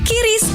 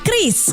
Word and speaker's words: QRIS: Ada yang menyebut QRIS, KIRIS, atau ORIS. Kepala Grup Departemen Kebijakan Sistem Pembayaran DKSPBI, Fitria Irmi Triswati mengungkapkan, pengucapan yang benar adalah KRIS.